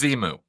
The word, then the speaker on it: Xenu: Ron Hubbard literally did spell it out and say it. So, as Xenu.